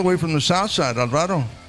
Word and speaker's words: Alvaro: Coming all the way from the south side, Alvaro, right? Alvaro. Alvaro, see. There's always things about that. You know, you may mispronounce a Spanish name.